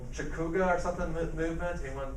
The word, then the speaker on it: Chautauqua: Chautauqua or something movement. Anyone pronounce it right? It's a city in New York was named after. Chautagua? Chautagua. There you go. All right, I have hard enough time pronouncing it, of course, but there.